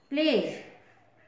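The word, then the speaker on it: pledge: के बाद ई है पी एल ई डी जी प्लेज इसमें डी साइलेंट है ब्रिज में भी डी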